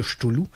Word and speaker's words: Cthulhu: appelle le mythe de Cthulhu. Et dans ce mythe de Cthulhu, c'est un peu difficile à dire parce que ça s'écrit C-T-H-U-L-H-U.